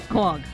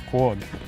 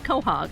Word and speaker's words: quahog: Quag. Quag. Now I grew up on the Cape and we said quahog.